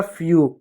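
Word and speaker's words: few: अब देखिए ई डब्ल्यू है, तो ई डब्ल्यू रहेगा तो उसका उच्चारण भी यू के रूप में होगा। देखिएगा एफ का बच्चों आधा फ, ई डब्ल्यू का यू हो जाएगा फ्यू। एन का बच्चों नो, यू डब्ल्यू का हो जाएगा न्यू।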